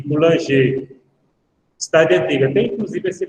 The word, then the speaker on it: Coulanges: de Fustel de Coulanges, ou de Coulanger, como quiser. Meu francês é nada, né? Eu não falo francês, mas acredito que a pronúncia é Fustel de Coulanges.